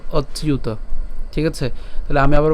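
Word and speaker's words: অচ্যুত: এর মত হয় তাহলে অ এর সাথে চ্যুত উচ্চারণ করলে কেমন হবে অচিউত ঠিক আছে তাহলে আমি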